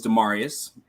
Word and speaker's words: Demarius: hey everyone my name is demarius Long A's and Latin pronunciations okay demarius really noted